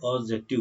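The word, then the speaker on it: adjective: ध्यान दीजिए ये डी साइलेंट रहता है इसीलिए मैं बार बार इसको एडजेक्टिव बोल रहा हूँ, ठीक है।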